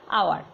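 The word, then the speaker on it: hour: এ হয়, কিন্তু এই এইচটা আমরা তো এটা সাইলেন্ট উচ্চারণ করছি, হাওয়ার তো বলি না, আওয়ার বলি, তাহলে এইচটা যেহেতু সাইলেন্ট তাই এখানে অ্যান হবে, তা অ্যান আওয়ার।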